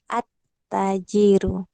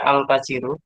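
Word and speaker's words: التاجر: At-tajiru. Nah, sahih, at-tajiru. Boleh nggak dibaca al-tajiru? Tidak boleh. Ya, salah ya. Kotok. Ada kotok. Salah. Ketika dibaca al-tajiru. Yang benar adalah kemana? At-tajiru.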